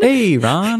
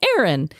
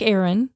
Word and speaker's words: Aron: e r o n Hey Ron yeah or is it just pronounced like Aaron anyway she wrote back and she's like actually it's pronounced just like Aaron even though it's spelled